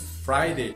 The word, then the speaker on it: Friday: É a primeira sílaba, fry, e realmente não tem nenhuma palavra no português que começa com fry. Então você pode associar com uma palavra em inglês. E Friday, você pode associar com fries, que seriam fritas, né?